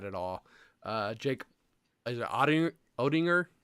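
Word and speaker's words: Oettinger: Jake, is it Odinger? How do you say it, Ethan? Is that it? Ottinger.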